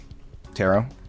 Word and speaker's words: tarot: Silent T Silent T Give these words that end with a silent T.